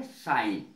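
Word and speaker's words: sign: जैसे साइन में देखो साइन में जी नहीं बोला जाएगा उच्चारण नहीं होगा इसका उच्चारण है साइन इसका अर्थ होता है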